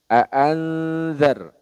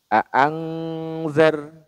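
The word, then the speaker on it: أنذر: Hakiki ya ikhfa Hakiki nah kesalahan yang sering terjadi dibacanya larinya ke Ang bunyi bunyi samarnya aangzar aangzar Nah itu kurang tepat Ya kurang tepat Karena tidak semua bacaan Ikhfa Hakiki itu berbunyinya Eng teman-teman yang berbunyi Eng itu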